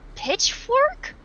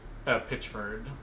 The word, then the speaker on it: Pitchford: Pitchfork? Pitchford. Randy Pitchford. Yeah, Dick Ford. Oh yeah, let's just purposefully mispronounce his name.